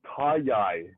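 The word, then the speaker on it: Taji: Uh, Tayi. T A Ji. The J is pronounced with a Y. Tayi.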